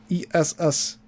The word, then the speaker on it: Essanay: Rechristened the S&A Film Manufacturing Company, S&A being the phonetic pronunciation of the first letters of the last names of Spohr and Anderson. S&A. S and A. S&A. Essanay.